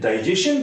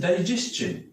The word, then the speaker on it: digestion: जी हाँ, आप इसे अक्सर डाइजेशन पढ़ते हैं, किंतु ये डाइजेशन नहीं है. इसके भी लास्ट में STION है. इसका भी जो सही प्रोनाउंसिएशन है that is डाइजेशन. Digestion. This is a very short sound, but we read it digestion.